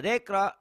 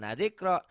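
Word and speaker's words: ذِكْرًا: Inna nahnu nazzalna dzikra. Nah dzikra, jangan nadzikra.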